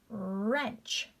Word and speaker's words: wrench: Silent W. Wrench. Wrench. You see, guys, I'm not making that W sound at all.